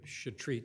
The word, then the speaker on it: Chetrit: Chris Sullivan for appellant Jacob shreat it's pronounced your honor my colleague John Ley